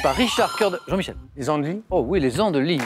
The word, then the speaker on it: Les Andelys: Les Andelys. Oh oui, les Andelys, les Andelys. YS, mais qui ne se prononce pas à la fin, les Andelys, bravo.